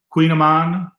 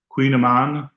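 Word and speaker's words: Kouign-amann: I'm glad your son made the kogaman, Queen Aman. That's a very special recipe. Everyone should make that. Queen Aman, even though it's not pronounced like it's spelled.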